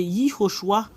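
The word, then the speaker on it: יְהוֹשֻׁעַ: C'est I qui devient J, c'est Yehoshua.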